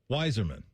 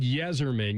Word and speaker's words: Yzerman: Y Z R m- an wiserman. He said Yzerman. You said wiser.